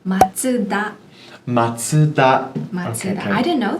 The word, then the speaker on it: Mazda: So some examples would be Mazda. Mazda. Yeah. The correct pronunciation being Matsuda.